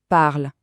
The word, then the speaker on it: parles: Mais attention petit secret de prononciation. Le s à la fin il est complètement silencieux. On ne l'entend pas. Écoutez bien tu parles. C'est exactement le même son que je parle.